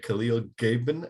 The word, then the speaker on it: Khalil Gibran: Yeah, there's this book called The Prophet by Khalil Gibran, I think is how you pronounce his name.